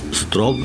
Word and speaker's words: Straub: Ojo que su apellido se escribe con AU, pero se pronuncia como si fuera una O. Straub, pues se escribe Straub, para que lo localicen.